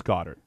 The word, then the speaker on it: Goddard: from South Dakota State we did get the official pronunciation by the way it is Goddard I don't like it